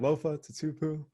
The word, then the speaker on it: Lofa Tatupu: seahawks lofa to tupu i wait did i pronounce that right lofa to tupu of tupa you got it man you're probably